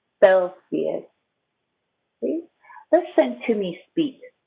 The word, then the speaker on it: Celsius: to say degrees celsius now the letter c can say hey or f and here it says f short e f o o this c also says f this i is a long e sound selfie this is sophia celsius see listen to me